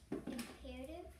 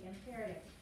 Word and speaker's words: imperative: Imperative? There we go. All right. One of your questions is you're pronouncing it wrong. Get us to pronounce it correctly. Imperative.